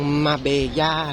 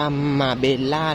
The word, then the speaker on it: Marbella: จ๊ะ สวัสดี จ๊ะ เมือง มาเบย่า นะ คะ สะกด เป็น ภาษา อังกฤษ จะ ออก เสียง ว่า มา เบลล่า นะ คะ แต่ เรา